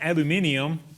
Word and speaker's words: aluminium: here are you Australian no no that's the British pronunciation probably Australian too but garage and aluminium are that's just the way I like to say those and I'm really trying